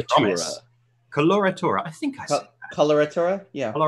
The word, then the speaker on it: Coloratura: Collura Torah I think coloratura yeah all right it's like the word color and then a Torah yes or the word